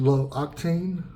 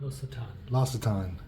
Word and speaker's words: L'Occitane: How do you say these toiletries? Low octane? L'Occitane? I don't even know how to say this. L'Occitane. I know this is fancy. The shampoo is L'Occitane.